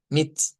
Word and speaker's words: mit: Y es que siempre aparece el sonido cuando la i se escribe entre consonantes. Entonces, vean, esta tiene aquí una i en medio de consonantes. Entonces decimos me mit.